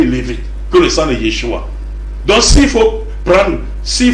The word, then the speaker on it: Yeshua: dire Yoshua alors que le nom de Jésus c'est Yeshua et non Yoshua en hébreu donc et là ne